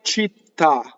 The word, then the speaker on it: città: Sulle città, città. So double T, right?